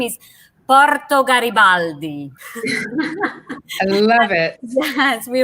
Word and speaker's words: Porto Garibaldi: we uh come to a town there everybody pronouncing the italian way watch how we roll our ours the name is porto garibaldi i love it yes we really wrote our